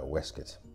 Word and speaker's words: waistcoat: the pick on pronunciations I tend to use a more traditional English pronunciation which would make that a wesket curious I know I